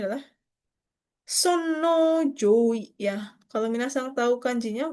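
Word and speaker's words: 尊王攘夷: Ini bacanya adalah Sonno Joi ya.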